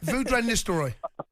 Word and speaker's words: Ruud van Nistelrooy: I didn't want to mispronounce his name. No, okay. I embarrassed myself on air. Ruud van Nistelrooy. Yeah, that's it.